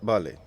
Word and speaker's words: Bhale: Bhale, is that how you pronounce the surname? That's perfect.